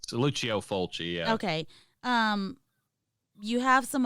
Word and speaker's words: Lucio Fulci: I'm not that sure if that's how you pronounce it. Yeah, it's Lucio Fulci.